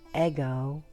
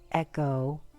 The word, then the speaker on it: ego: to think it is the higher ego or better pronounced eggo or echo by higher echo individuality